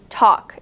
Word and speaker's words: talk: don't say chalk and you don't say talk you say chalk and talk it kind of sounds like C okay chalk and talk kind of sounds like t o k or t a k but it's really not you can also make